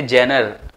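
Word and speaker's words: genre: कहते हैं जनरा अच्छा बहुत से लोग इसे प्रोनाउंस ही रंग करते हैं मैंने किसी को सुना था वह कह रहे थे जनर और जनरी ऐसा कुछ पर इसे प्रोनाउंस किया जाता है जनरा राइट तो फॉर्म्स ऑफ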